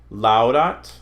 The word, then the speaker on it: laudat: Ow, au is pronounced like the ow in house. Laudat, out, paulisper, paulisper.